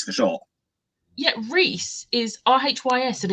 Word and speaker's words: Rhys: However, eventually, like, I trained my brain to say Rhysand, and that it makes more sense with Rhys for short. Yeah, Rhys is R-H-Y-S, and it's Rhys.